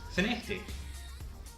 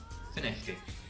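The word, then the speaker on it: Findochty: from, and it's F-I-N-D-O-C-H-T-Y, and it's pronounced Finechty. Don't ask me why, but it is Finechty.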